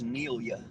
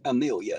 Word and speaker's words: Nelia: Starts with an N, not an M, but an N, as in not, in Amelia. It's a weird name, I agree. Odd name. Took me a day or two to pronounce it correctly, but it's Nelia, not Amelia, if that helps.